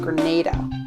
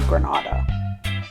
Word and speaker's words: Grenada: Lesson number 1, it's pronounced Grenada, not Grenada.